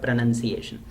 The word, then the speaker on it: pronunciation: have studied this that it is not pronounced iation but pronunciation Russian never rhymes with